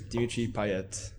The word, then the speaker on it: Dimitri Payet: I support Marseille, and my favorite player is Dimitri Payet. Ooh, good pronunciation there.